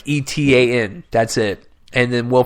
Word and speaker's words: Etan: It's Eaton, not Ethan. Like Etan.